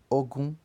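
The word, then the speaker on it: ogún: E o número 20, em Yorubá, pronuncia-se Ogun.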